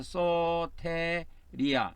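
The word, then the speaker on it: σωτηρία: 긴 발음은 그래서 소테리아 이렇게 발음하면 되겠습니다. 그래서이 구원이라는 것이 헬라어로는 소테리아인데 구조하다.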